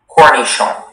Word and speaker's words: cornichon: Your word is cornichon. Cornichon. May I have all the information, please? Cornichon is the only pronunciation.